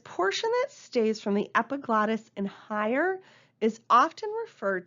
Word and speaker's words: epiglottis: the lungs is referred to as the epiglottis epiglottis is how you pronounce that okay let's let's take a look